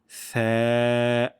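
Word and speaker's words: ث: আমরা যদি এইটাই আমরা করতে পারি, তাহলে আমাদের থা উচ্চারণটা অনেকাংশে হয়ে যাবে। জিহ্বার আগা এবং সামনের উপরের ২ দাঁতের আগার সঙ্গে লাগিয়ে স্যা, স্যা।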